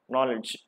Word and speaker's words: knowledge: k w l z so everybody knows it K is silent knowledge knowledge K silent then